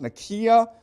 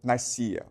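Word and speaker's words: Nicaea: Okay, it's properly pronounced Nikia, but most people pronounce it Nika.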